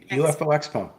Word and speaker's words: UFOXPO: UFOXPO.